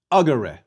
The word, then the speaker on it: agere: Agere. Where was the stress? The E in the second to last syllable was short. So, agere. Please repeat.